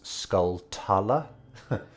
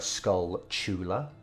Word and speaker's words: Skulltula: is um you know it's like the pronunciation of tarantula um so for everyone who says skull tala you're very wrong it's a skull chula like tarantula um yeah